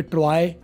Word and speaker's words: Troy: बारे में बताया था टी आर ओ वाई आप हमारे यहां जो जुगाड़ है स्पेलिंग का उसके हिसाब से आप बोलोगे तो आप बोलोगे ट्रॉय या जैसे बॉय बोलते हो या टॉय बोलते हो तो ऐसी सूरत में